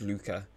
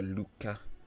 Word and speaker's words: Luca: pronunciation of luca and it is luca uh but i think it's more of like a lucca like i think you sort of almost pronounce both c's rather than just being like luka i think i don't